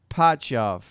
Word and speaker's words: Shipachyov: I say Shipachev. Shipachyov. That sounds about Shipachev. right. Shipachyov. I heard it pronounced Shipachyov.